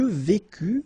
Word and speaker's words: vécus: Je vécus, final S not pronounced.